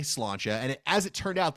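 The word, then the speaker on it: sláinte: I've been to Dublin before how to say cilantro and as it turned out the waiter was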